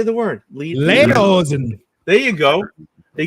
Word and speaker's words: Lederhosen: Lederhosen.